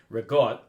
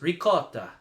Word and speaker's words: ricotta: There's the Italian American way, rigot. There's the American way, ricotta. Yeah. And then there's ricotta, which is the way the Italians would say it. It's 3 completely different pronunciations.